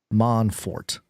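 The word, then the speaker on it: Mon4t: called Monfort and they the way they spell it out it's m o n and then the number four and then T manfort very creative and they quote ziv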